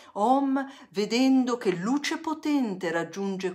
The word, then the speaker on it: Om: Quando le sentirai vibranti, formicolanti, caldi, questi palmi delle mani, li apriremo e poi insieme proietteremo questi OM tre volte, pronunciamo bene la M, OM, vedendo che luce potente raggiunge quella terra e raggiunge le coscienze, tutte.